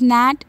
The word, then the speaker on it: gnat: Now question number four, write any three words in which the letter G is silent. So the answer is gnat, sign and design.